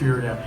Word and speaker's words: Uriah: Before Uriah, is that how you pronounce it? Okay, Uriah, that's Uriah.